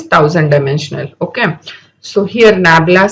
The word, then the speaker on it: nabla: This is pronounced as Nabla.